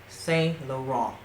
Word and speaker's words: Saint Laurent: to venture into the house of YSL is Saint Laurent that's how you pronounce it say after me I'm just kidding